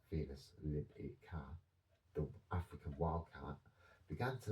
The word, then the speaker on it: Felis libica: Wild cats, Felis libica, pronounced Felis libica, the African wildcat, began to linger near human settlements, preying on these rodents.